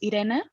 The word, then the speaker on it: Irene: please well actually uh the pronunciation of my first name is idena and yeah and my